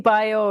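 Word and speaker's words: भ्यो: Petri is spelled Pitri, and Petri Bio is Petri plus Bhyo, and that's pronounced bio. The Okay.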